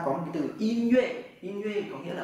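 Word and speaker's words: 乐: Cái này bạn đọc là nhuệ. Âm viết nó là chữ nhạc. Chữ này nó có một cách đọc khác nữa là lựa. Khi nó đọc là lựa thì nó có nghĩa là gì? Lạc. Lạc thú ở đời đấy. Còn âm nhạc thì nó đọc là nhuệ và âm viết nó là nhạc.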